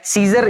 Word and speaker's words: Caesar: scissor basically क्या है सीजर या साइजर भी आप प्रोनाउंस कर सकते हैं साइजर बेसिकली एक